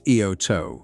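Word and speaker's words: Iōtō: Today, the island has reverted to Japanese administration and is known officially as Eoto, reflecting proper Japanese pronunciation.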